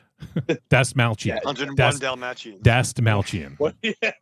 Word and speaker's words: Dastmalchian: Yeah, I think in the past I've said Dalmachian, but I think it's Dastalmachian. Dastmalchian.